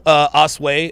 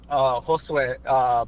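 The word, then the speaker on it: Josué: Well, I appreciate your call, Osway. I'm sorry. How do you pronounce that? Is it Os? Josue. Josue. Osway. Josue.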